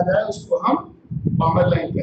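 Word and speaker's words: Balmer: बाल्मर नहीं, L silent इसमें, बामर lines.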